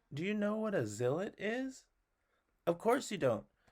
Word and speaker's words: Zilot: for coming up with Zill it if you must know Zill it rhymes with spillet and it means blanket